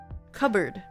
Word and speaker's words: cupboard: I thought it was spelled like c u b o a r d. cupboard. Like cub and then bird or board.